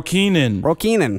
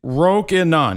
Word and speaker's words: Rokinon: Have you heard people say it? They're like, "Roan, Rokinan." Roenon Roco. The name is simple. It's Rokinon.